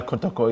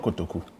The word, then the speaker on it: Kotoko: My Kotoko is spelled K-O-T-O-K-O. There's a U at the end. It's not Kotoku.